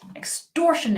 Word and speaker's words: extortion: one extor sh knit extortion it the extortion extortion it the stress is on tour what do I mean